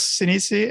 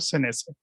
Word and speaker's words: Sinise: En inglés, Sinise, en español, Senese.